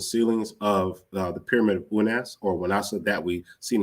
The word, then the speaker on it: Unas: So we could look at this pyramid of Unas, or Wanasa. I'm proposing Wanasa as the pronunciation.